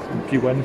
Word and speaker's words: P1: également, et la McLaren P1, P1 si on va le prononcer à l'anglaise, qui est hybride également.